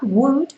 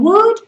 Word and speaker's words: would: dar la tabarra, pero por favor, do not pronounce the L, no me pronuncies la R, ¿vale? Ni en would, ni en should, por favor, ¿ok?